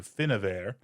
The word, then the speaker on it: Finnabair: So, it's spelled in my translation F I N N A B A I R. So, Finnabair, or if you do the v with the b like it says I'm supposed to, Finnavair, who is supposed to